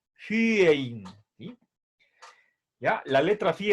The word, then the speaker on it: phyein: La Y se pronuncia con poniendo los labios en forma de U, pero pronunciando desde adentro el sonido de la I.